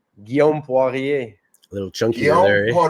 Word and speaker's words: Guillaume Poirier: It's Guillaume Poirier or something like that. Guy, just say it for me one time, man. I'm terrible with names. Guillaume Poirier.